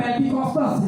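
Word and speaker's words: Πεντηκοστή: जब हम इसके लुग़वी मानी को देखते हैं तो ईद पेंटिकॉस्ट का जो दिन है, ये लफ्ज यूनानी लफ्ज है जिसका जो प्रोनाउंसिएशन है पेंटिकॉस्टस है, जिसका मतलब है हफ्ते।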